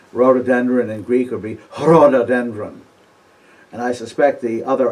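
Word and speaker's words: ῥοδόδενδρον: an h sound before the greek r by the way is always pronounced with an h in front of it like rhododendron in greek would be herododendron and i suspect the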